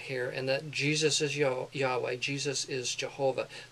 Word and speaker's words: Yahweh: The vowels were added later on to give the pronunciation Jehovah in English, and then now scholars more recently feel that Yahweh is probably closer to the original.